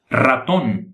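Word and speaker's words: ratón: R rato em português aqui se pronuncia raton você falar rápido e a língua bati várias vezes no céu da boca boa rosto em português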